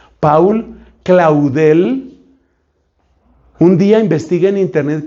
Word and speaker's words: Paul Claudel: Ese hombre se llama Paul, o sea, Paul pronuncian en francés, Paul Claudel.